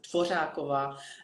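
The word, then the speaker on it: Dvořáková: It's pronounced Dvorakova, and it's very difficult for any kind of foreigners to say that because it's Czech language is one of the very hardest languages with a sh and these vowels, and Yeah.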